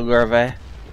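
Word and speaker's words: Löwe: is Mercker and his low it's a tier 8 game on fiery salient and this is a tier 8 German heavy tank below missing are the larvae if you really want pronounce it correctly this thing has been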